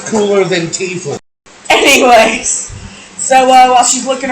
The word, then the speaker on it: Tiefling: By the way, before people get in the comments and go, it's pronounced Tiefling.